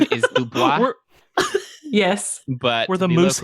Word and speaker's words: DuBois: Oh, And them it's- Du Bois. Them Du Du Bois Bois. got themselves in trouble again. in fact, they have bumper stickers that have it spelled out phonetically DOBOYS.